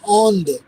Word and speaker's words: Inde: और इंडिया को बोलते हैं औंध, INDE, औंध, राइट।